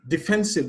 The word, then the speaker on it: defensive: Defensive, the stress is on the second syllable.